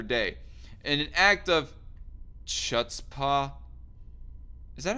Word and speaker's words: chutzpah: trump day after day in an act of chutzpah is that how you pronounce that word c-h-u-t-z-p-a-h chutzpah and an act of chutzpah difficult to